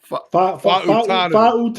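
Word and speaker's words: Fautanu: Fa'utanu.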